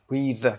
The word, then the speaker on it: breathe: یه حالتش اسم هست که breath هست و verbش breathe هست که در انتها ای داره و breathe تلفظ میشه.